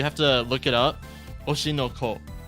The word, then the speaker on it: Oshi no Ko: Oshinoko. It's spelled O-S-H-I. Let me just type that down. I will write it down in chat. Oshinoko.